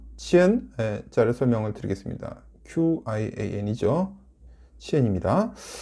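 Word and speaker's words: 千: 발음은 링이 되겠습니다. 쉽죠? 자, 두 번째 천, 치엔 자를 설명을 드리겠습니다.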